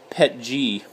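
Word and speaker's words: PETG: so I also have pet G so I mean that's how you pronounce it pet G petting anyways I am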